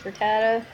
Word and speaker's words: Rattata: I probably will never actually use this Rattata. That's the right way to pronounce it.